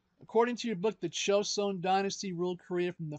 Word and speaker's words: Joseon: It's also spelled with a J, so it's Joseon and Joseon. It's not Joseon, it's Joseon, like a light J.